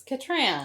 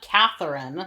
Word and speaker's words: Katran: It's Katran. It's Katran. It's not that hard. Atris, she even says like, "It's Katran." It's Katran. Not Catherine.